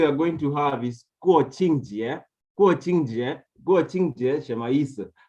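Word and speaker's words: 国庆节: The first Jieru we are going to have is Guoqingjie. Guoqingjie Shemaisa. Guoqingjie, it's National Day.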